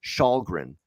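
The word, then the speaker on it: Källgren: kid that they called up from the miners shahgren that's how you pronounce his name he came into the game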